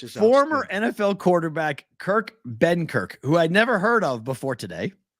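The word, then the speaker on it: Benkert: Benkirk, as I believe they say it.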